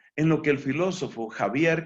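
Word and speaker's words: Xavier: lo que el filósofo javier que se escribe con x subir y que se escribe con zeta en lo que javier subir llamaba formalidad stimuli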